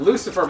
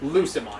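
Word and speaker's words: Lucemon: yeah it's a thing not yeah not Lucifer it's lucion Lu uce eonon Satan mode yes that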